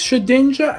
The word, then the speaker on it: Shedinja: Besides Shedinja and Swadloon... Sedinja. Sed... Sedinja. I can't say it now. Shedinja. It's not Sted... Shed... A ninja, Shedinja. It's Shed Ninja.